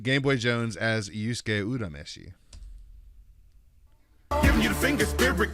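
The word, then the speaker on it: Urameshi: pronounce his last name yura meshi is incorrect did you know that it is not a y sound the japanese name is udameshi yeah i was about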